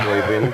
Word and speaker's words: Øyvind: You don't want to pronounce Øyvind, do you?